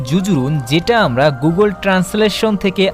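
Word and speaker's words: جزر: যা এবং র আর এই ওয়ার্ডটির উচ্চারণ হচ্ছে জুজুরুন যেটা আমরা গুগল ট্রান্সলেশন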